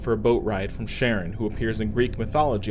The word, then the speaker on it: Charon: the Greek pronunciation but I'm going off how astronomers pronounce Charon when talking about the moon of Pluto with the same name so Sharon crosses with them and